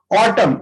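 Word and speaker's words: autumn: ऑटम, ये एक मौसम होता है पतझड़ का, ठीक है, तो इसमें भी एन साइलेंट है।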